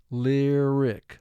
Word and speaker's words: lyric: We have vowel group 2 in effect, 1 vowel at the end of the syllable, but Y is representing the short I sound in this word, not the long sound.